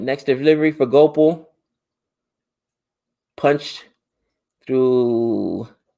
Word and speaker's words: Gopal: we need to do go pal it's pronounced gopal okay hopefully i got